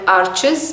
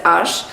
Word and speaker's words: Arches: that's available in India they call it arches but it's actually pronounced as ash the arsh cold press